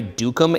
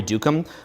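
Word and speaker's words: Duqum: I don't think I'm pronouncing his name properly, but it's Andre Dukum. It's like D-U-Q-U-M, Andre Dukum.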